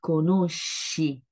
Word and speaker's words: conosci: Donc, conosco, sco sont durs, et puis conosci, donc les sons doux.